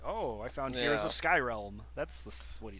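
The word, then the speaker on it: Skyrealm: called Heroes of Skyrm Skyrm definitely not Skyrim definitely not Skylanders definitely none of those things it's it's spelled in a pretty uh like pretty different way it's Sky r e a l m but I mean at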